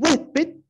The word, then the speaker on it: huésped: En huésped, todos tenemos claro que la tilde lleva en E.